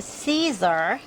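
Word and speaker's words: Siser: I forgot I'm using Caesar heat transfer vinyl that's s i s e r it is pronounced Caesar and I'll see if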